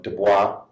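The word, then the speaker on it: Du Bois: Some use the French pronunciation of Dubois, who in 1903 wrote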